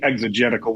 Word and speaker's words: exegetical: Uh, everyone in the LCMS should be exogetical, which means we bring out out of the text the meaning as opposed to we put it into the text.